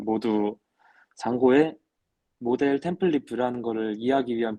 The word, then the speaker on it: Django: 했고 그 다음에이 잔고가 뒤가 무금이거든요 그래서 발음은 두 장구가 아니라 잔고가 왔습니다 이거 말고 이제 잔고에